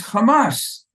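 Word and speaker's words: חמס: word for violence is Hamas it's not like changing the transliteration that's what the Hebrew it says and that's how you pronounce it it's the exact same sounding word now hamash for the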